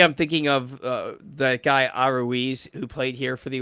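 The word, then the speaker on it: Arraez: It's Araúz.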